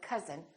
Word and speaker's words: cousin: up fun but number but also sometimes this sound is spelled with ou as in words like cousin my cousin we don't say my coin we say my cousin or country and once